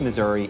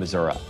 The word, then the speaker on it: Missouri: person down the street this state is both Missouri and missourah people pronounce it differently depending on what part of a their problem politics is